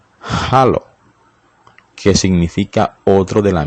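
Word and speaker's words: ἄλλος: texto bíblico deriva de un vocablo griego que se pronuncia halo hallo qué significa otro de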